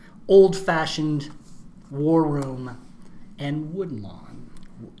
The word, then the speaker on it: Woodlawn: The nominees were Captive, Beyond the Mask, Old Fashioned, War Room, and Woodlawn. Not Wooden Lawn. Woodlawn. Woodlawn. Wood. Quit pronouncing your D's, dude.